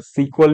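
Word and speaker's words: SQL: जो कि है माय एसक्यूएल और देखो एसक्यूएल को बहुत से लोग सीक्वल भी प्रोनाउंस करते हैं ठीक है तो तुम्हें जो मनो तुम वो बोल सकते हो मैं तो एसक्यूएल ही बोलता हूं तो इसके जो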